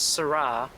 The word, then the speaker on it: Sara: Not Sarah, not Sarah, but Sarah.